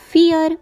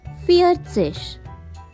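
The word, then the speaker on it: vier: thus so i own swanseas let's try next number drai on swanseash once again dry don't forget v has a sound of fur therefore fear own swanseas once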